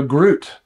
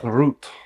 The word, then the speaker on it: Groot: how you say it Groot it's still going to be so bad no our Denmark ladies are going to be like please stop it's so the g is silent but you guys need